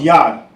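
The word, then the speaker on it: יד: hand in Hebrew is pronounced yah.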